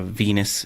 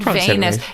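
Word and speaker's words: venous: capillary stick versus a Venus Vena puncture Venus I was saying it wrong what did you say I said vness no it's a word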